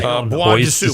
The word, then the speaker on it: Bois de Sioux: By the way, Kenny, the S in bois is silent.